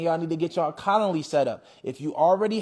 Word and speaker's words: Calendly: Okay, Calendly is spelled like colander, so it's Calend, CALEND, Lee, LY, CALEND, LY, Calendly.